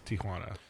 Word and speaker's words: Tijuana: several ants named Quanah there's no a it's tij you do that yeah it's I honestly got called out on it that's why Jo its Tijuana so this is our podcast